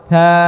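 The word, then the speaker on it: ث: এমনটা তাহলে জিহ্বা বের করে আদায় করেন উচ্চারণ করেন তাহলে নরম ছা ছা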